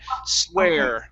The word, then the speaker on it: swear: breath okay okay now when you're pronouncing the r in swear you need to curve your tongue upwards okay swear swearing swearing almost almost